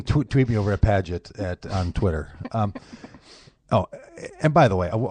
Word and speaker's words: Pagitt: you might know that it's a soft G in padet as in Doug padet radio well so people call you pagot sometimes oh they call me pag it all the time and I lecture him I lecture him about the rules of a g in the soft G in the middle when it's before an